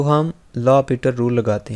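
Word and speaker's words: L'Hôpital: तो हम लिखेंगे बाई लॉपिटल रूल, इसको हॉस्पिटल नहीं पढ़ना, आपने इसको लॉपिटल रूल पढ़ना है, ठीक है।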